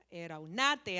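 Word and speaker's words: ἐραυνᾶτε: Y fíjense que cuando la hermana Benavid Benavides decía, "Escudriñad las escrituras," frase viene del griego, el verbo eraunate. Eraunate, acento en la a.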